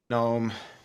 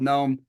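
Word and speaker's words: Noem: Gnome. Nome? Is it Nome?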